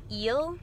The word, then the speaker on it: Hill: First off, my name is Miss Hill, that's Hill. And in French, it's actually pronounced Ile because in French, we don't pronounce the H and the I makes kind of a E sound.